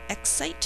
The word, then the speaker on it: excite: winning a vacation will excite him think to spell uh x i spell excite out loud e-x-c-i-t-e excite that silent E is making the I say I number four exciting three syllables